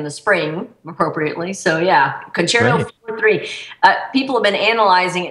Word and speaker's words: Concerto 4-3: It's called Concerto 4-3. Is that how you say it, Jennifer? It is, actually, and you're a good segue for that.